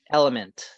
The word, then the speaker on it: LMNT: What it's just like the letters LMNT. Element.